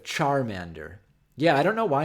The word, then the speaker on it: Charmander: other I love how he says it sharm ander instead of charmander yeah i don't know